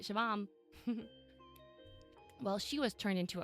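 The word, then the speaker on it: Siobhan: Like, I literally just learned how to pronounce like Shivam. You know what I mean? Like, that's the only Irish name that I'm like, that's how you say it, Shivam.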